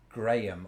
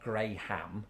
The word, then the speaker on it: Graham: decidedly in my pronunciation graham not gray ham graham or one vowel yeah when you do